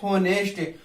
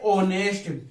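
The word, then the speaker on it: honest: ही is space होनेस्ट, space के बाद एच दिख गया, क्या कर देते हैं, एक का प्रयोग कर देते हैं। इसको क्या बोलते हैं, ऑनेस्ट। क्या बोलते हैं, ऑनेस्ट। तो उच्चारण किसका निकला, ओ का उच्चारण निकला।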